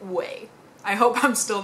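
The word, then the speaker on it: Ouai: much for correcting me I think I pronounced it we w i i pronounced it very wrong apparently in French you pronounce it way I hope I'm still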